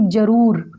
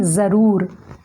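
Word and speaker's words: ज़रूर: सही तरीके से करें अब हम कहते हैं कि जरूर तो जरूर बिल्कुल गलत है हमें कहना है जरूर हमें अपने उच्चारण पर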